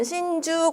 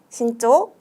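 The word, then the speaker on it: 慎重: 여기서 신난다고 여러분 신주 골라주시면 안 돼요. 이때 신중할 때는 주가 아니라 초로 발음이 되는 예외로 초로 발음해 주셔야 되는데, 요거 주가 아닌 초로 발음되는 것들 두 가지 더 가져갈게요.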